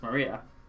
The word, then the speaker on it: Maria: is pronounced Maria.